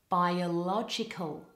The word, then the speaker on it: biological: a listen by a biological biological now in these two words the letters O are actually pronounced as the open vowel ah this is a bit